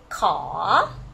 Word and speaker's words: ขอ: request word which is ขอ rising tone ขอ so here you see this is k sound ขอไข่ and the o together pronoun ขอ ขอ rising tone okay ขอ okay so